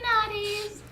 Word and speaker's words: nadis: I got naughty nadis. It's not spelled like that, but it sounds like that.